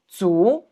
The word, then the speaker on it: 足: When standing alone, the pronunciation is 足.